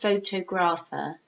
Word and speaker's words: photographer: So you have to be, it's not photographer, no, photographer. I'm a photographer.